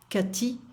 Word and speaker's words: Cathy: Cathy, so it's a TH. TH in French is not pronounced, so we're going to say T sound. Cathy est sportive.